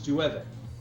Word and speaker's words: llueve: like, you know, like, general Spanish, it's llueve, you know, like the word for rain, you know, because it's got the double L's, so you say it like a Y. Yeah. But apparently, in Panama, if it's got the double L's, you say it kind of like a J.